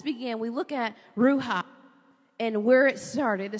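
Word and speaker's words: ruach: wind and that word comes from the Hebrew ruha and it's spelled r u a c h ruha and that means again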